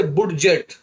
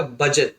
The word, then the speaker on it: budget: अभी देखिए ये कितना फनी है, BUDGET, तो पढ़ना तो चाहिए इसे बुडजेट, मगर पढ़ते बुडजेट नहीं है क्योंकि डी साइलेंट है। और यहाँ पे यू का जो प्रोनाउंसिएशन है वो आता है आ, ये क्या हो जाएगा? बजट।